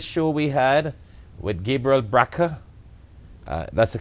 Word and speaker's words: Brakha: Just call us and ask us about this show we had with Gabriel Brakha. That's the correct pronunciation, right?